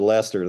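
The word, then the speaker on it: Leicester: I knew the British pronunciation.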